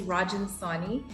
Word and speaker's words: Rajan Sawhney: little bit about myself my name is rajin sani and my name actually means king rajan a lot of people have troubles pronouncing this name so i always like